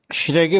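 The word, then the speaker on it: Schrage: देखिए इसका प्रोनाउंसिएशन एक आध तो कर लीजिए, कई एस चार्ज बोलते हैं, कोई क्या बोलते हैं। तो बेसिकली दिस इज श्रैगे मोटर, ठीक है।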